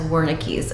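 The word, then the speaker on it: Wernicke: In today's video, I will be going over the difference between Broca's aphasia and Vernick's aphasia, also sometimes pronounced as Woricky's aphasia.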